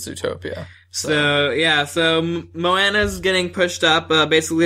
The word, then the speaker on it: Moana: it's called Moana now is that how you pronounce that's how that's how everyone's been oh interesting I've been saying Mona no Moana I've heard Moana interesting so uh apparently this movie was supposed